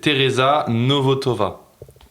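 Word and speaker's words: Tereza Nvotová: C'est Teresa Novotova. En fait, comment c'est écrit, c'est un peu compliqué à le prononcer.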